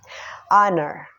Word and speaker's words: honor: Honor adalah kata yang diawali oleh huruf konsonan yaitu H, namun pada pengucapannya berbunyi huruf vowel. Honor.